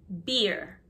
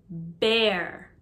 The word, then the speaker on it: bear: chicken chicken duck duck rabbit rabbit bear not beer bear bear the drink is beer bear beer buffalo